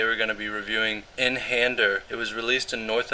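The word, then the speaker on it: Einhänder: pretty cool guy obviously is it inhander or einhander i think it's einhander because it's german but um i'm american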